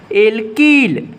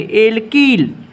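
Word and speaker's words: alkyl: हम लोग पढ़ते हैं एल्कील। ध्यान रखना प्रोनाउंसिएशन में, एल्कील। एल्कील और एल्कीन में अंतर है मेरे दोस्त।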